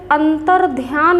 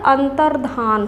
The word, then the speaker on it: अंतर्धान: ध्यान रखेंगे और अंतर अंतर्ध्यान लोग बोलते हैं उच्चारण करते हैं लेकिन शुद्ध क्या होता है अंतर्धान होता है अंतर्धान उस